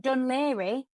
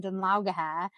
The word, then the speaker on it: Dun Laoghaire: So, and Dun Laoghaire, how would you spell that?